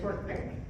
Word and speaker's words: Short Creek: really impressed with wayne he pronounces it the proper way short quick you can tell he's